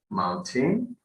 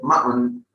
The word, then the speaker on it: mountain: Okay, for example, mountain. Okay, we never pronounce it mountain. Got it. So it sounds horrible. Same with hotel.